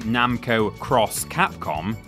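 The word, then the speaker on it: Namco × Capcom: In 2005's Japan-only game, Namco Cross Capcom, yeah, it really is pronounced that way, the worlds of those companies collided, and with them, entire histories of gaming.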